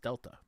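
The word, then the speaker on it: Δ: Metal Gear Solid Delta the triangle is pronounced Delta oh okay fair enough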